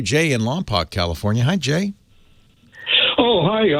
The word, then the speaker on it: Lompoc: Jay in Lompoc, California.